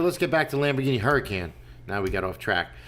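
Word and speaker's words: Huracán: get back to Lamborghini hurricane now we got off track so that's spelled spider with a Y is it hurricane or Huracan anybody know don't know uh I think it's huran Huracan okay oh you he had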